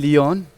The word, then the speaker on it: Liyan: a Kurdish name - Liyan - Liyan -The word Liyan rhymes with the name of the dance (Shirine Laylan) - Yes, Liyan is